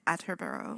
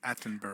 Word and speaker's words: Attenborough: prey as it comes through the brush david atterborough yes attenborough oh sorry isn't it attenborough oh yeah you